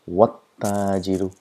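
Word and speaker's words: وَالتَّاجِرُ: So what happens is we pronounce as though the letters don't exist at all. So pronounce it wat-tajiru, wat-tajiru.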